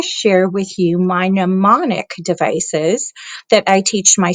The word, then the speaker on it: mnemonic: So first of all, if we look at the word mnemonic, I want you to notice that the M is silent. And I put the pronunciation there, mnemonic.